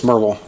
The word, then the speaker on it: Maryville: next one is pronounced, locals will call it Maryville. I know you're going to say Maryville, and it's Maryville, but it's Maryville. People say it super fast and quickly like that, and I know several